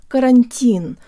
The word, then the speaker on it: карантин: The two T's in butter are actually very close to a flipped Russian R. Now pretend you're from New York City. Buttah. Buttah. And now replace the B with a C sound. Cuttah. Cuttah. This is really close to part of the first two syllables in our word.